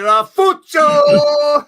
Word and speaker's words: Ralfuccio: Hey, you gotta say it right, Ralfuccio! Saving my voice. Gotta roll the R's, Mitch.